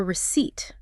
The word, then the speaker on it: receipt: It is called a receipt.